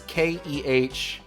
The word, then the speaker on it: Knights: No, it's Kehnights. It's just, you pronounce Knights but with the K.